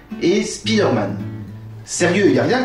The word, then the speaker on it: Spider-Man: En effet, pour Iron Man, le I garde une prononciation assez proche de celle de l'anglais. Par contre, pour Spider-Man, le I se fait carrément franciser.